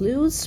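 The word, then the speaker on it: loess: had massive amounts of loose pronounced like the english word less a fertile sediment that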